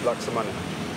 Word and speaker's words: laksamana: Uh but the actual way to pronounce it in Bahasa, which is the Malaysian language is laksamana.